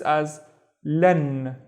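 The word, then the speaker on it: أصلاً: And I would read this as lan. Lan. Okay? And the first syllable would be as. This is the sa, the heavier version of sa.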